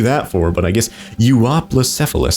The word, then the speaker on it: Euoplocephalus: for but I guess you are plus F Allah that's how you pronounce it so don't ask how